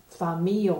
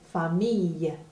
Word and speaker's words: famille: I-L-L-E, c'est prononcé comme un « y », comme un « y ». Y. C'est prononcé comme un « y » en anglais. C'est pas prononcé « famille », c'est prononcé « famille ».